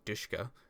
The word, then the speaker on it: DShK: Ukrainian weapons in this category include the M2 Browning, the DSHK, often pronounced Dushka, the NSV, and the KPV.